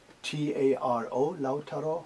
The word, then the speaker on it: Lautaro: names of musicians in lao taro right yeah it's l-a-u-t-a-r-o lao taro yeah is it pronounced properly yeah exactly do you like your